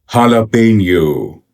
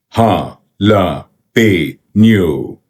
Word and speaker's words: jalapeño: This word key say pronunciation here. jalapeno jalapeno jalapeno ha la pe noo ha la pe noo ha la pe noo